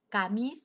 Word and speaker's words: Camus: el nombre lo escribí se llama albert khamis tocamos se escribe camus y el título se